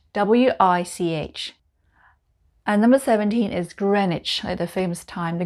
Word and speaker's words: Greenwich: vista village just outside of oxford and it's pronounced bista now the next group ends with which w-i-c-h and number 17 is greenwich at the famous time the greenwich time is